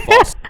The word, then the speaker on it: fossa: And of course, we're talking about Madagascar's top predator and a bane to lemurs everywhere, the fossa. Although with its spelling, I'm pretty sure it's actually fossa.